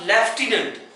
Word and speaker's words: lieutenant: अब हमने बोला लेफ्टिनेंट, एफ, एफ का तो कोई रोल ही नहीं इसमें, एफ की आवाज कहीं है, LIEUTENANT, लेफ्टिनेंट।